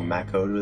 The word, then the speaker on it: Makoto: Oh, MAcoto, that's how you say it, not MAcoto.